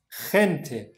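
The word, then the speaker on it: gente: أهلا وسهلا، كثير سألني منكم بخصوص حرف الجي في الإسبانية، متى ينطق خا؟ ينطق خا في حالتين، الحالة الأولى لما يجي بعدها حرف الآي، والحالة الثانية لما يجي بعدها حرف الإي.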